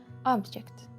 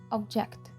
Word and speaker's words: object: з таких слів є слово аject або обjject це тай випадок коли наголос кардинально змінює значення найпоширеніші переклади на українську